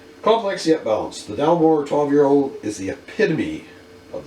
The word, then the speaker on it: Dalmore: Alright, I actually just did a quick check on the pronunciation. It's actually Dalmore, so I was pretty much correct in how it's pronounced.